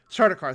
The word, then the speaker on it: Sardaukar: an idea of the what's I can never pronounce their name, the soldiers of the emperor, the Sardaukar. Sardaukar, thank you.